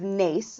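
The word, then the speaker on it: Naas: just outside the town of Nace that's spelled Nas in County Kildare and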